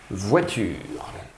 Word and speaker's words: voiture: Wa, je vous ai donné la solution en vous disant que c'était OI qui faisait le son Wa. Voit, c'est le T. Voiture, un U. Voiture, le son R, c'est le R. Et il y a un E muet à la fin de la phrase.